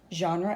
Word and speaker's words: genre: here's the word genre I think it's a French word so it has a soft G sound not gah but yeah genre and art and there